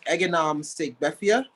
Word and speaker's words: Eganam Segbefia: My full name is Eganam Segbefia, and I go informally by. It's pronounced kind of like the waffles.